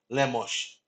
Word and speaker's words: Lemos: Lemos, like it's really supposed to be pronounced. Lemos.